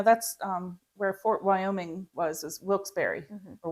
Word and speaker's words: Wilkes-Barre: Yeah, that's where Fort Wyoming is Wilkes-Barre or Wilkes-Barre.